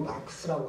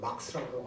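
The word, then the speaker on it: Marx: 발음은 뭐 마르크스라고 하기도 하고 막스라고 하기도 하고 이러는데 보통 그때는 이제 전부 막스라고 했거든요.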